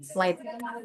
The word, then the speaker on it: flight: Oke, this one penerbangan eh flight G-nya tidak usah dibaca.